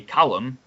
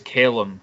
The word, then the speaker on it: Callum: head i don't know it's actually americans who have butchered my name historically uh even though it's only callum uh quite easy it's always calum in america so i'll come over to american like oh caleb that's a good name